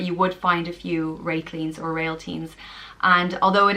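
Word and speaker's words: Réiltín: The next name is Réitlín, and it means little star, and it's pronounced Réitlín.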